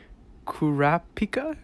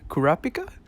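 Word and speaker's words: Kurapika: but i just-i can't-- KU rap pika Korra pika I think is the right way to say it Cora pika or the blonde haired one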